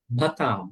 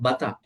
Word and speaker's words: bhata: Every word has to be pronounced with an aspirate, a breathing voice. Not Buddha, Bhutta, not Boga, Bhoga, not Bata, Bhata, not Bacha, Bhacha.